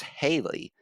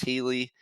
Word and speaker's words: Healey: by the way they keep calling you alex haley i was like all right so i go into our uh how do you pronounce my name channel and say hey uh it's it's alex healey and i did like the phonetic spelling i did like h-e-e-l-e-e and then no one